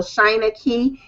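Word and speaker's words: Shynankey: Everything is Shina Key. I keep it simple branding, everything uniform. So, China Key and I know it's not pronounced so simple, but it's China like China.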